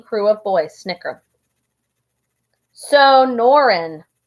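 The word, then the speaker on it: Sonoran: of boys snickers so noren then pronounces the word slowly it's the name of the desert around where i lived in tucson so no ran snow oaring frankie sneers whatever it's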